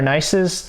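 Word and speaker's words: gneiss: our shale to our nices these are most of our foliated rocks so we have shale slate philite schist and nice and that's how they pronounce them and these are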